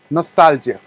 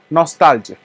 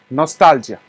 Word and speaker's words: nostalgia: no no the phonetic no has to be stressed on and stop is short okay nostalgia so that is how you have to pronounce it try to pronounce it nostalgia okay do that no